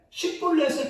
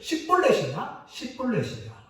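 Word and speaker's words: שיבולת: 하나는 쉰으로 시작하고 하나는 사베라는 단어로 시작합니다. 자음으로 시작하는데 그 앞에만 다르고 나머지 똑같아요. 그러니까 십볼렛이냐 이것을 발음하기 위해서 찾아내는데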